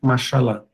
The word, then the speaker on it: machalá: Então, a gente ficaria com macialá, mas acaba sendo pronunciado machalá.